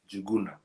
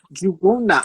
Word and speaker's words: Njguna: Let everyone know the pronunciation. Okay. Yeah, my name is Njguna. Njguna. Njguna.